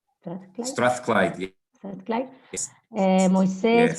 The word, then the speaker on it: Strathclyde: And just a quick check, actually, Miguel from University of Strathclyde, is that how is it pronounced? Strathclyde? Strathclyde, yeah.